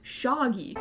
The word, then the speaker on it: Shaggy: of name is Shaggy except he pronounces it shogy shagy shagy shy he